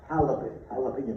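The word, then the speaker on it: jalapeño: I said, I know that's a J, but it's pronounced like an H.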